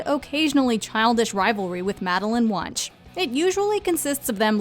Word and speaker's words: Wunsch: childish rivalry with Madeline Wunsch. It usually consists of them lobbing rather creative insults at each other. Oh my God. Wunsch sounds like lunch.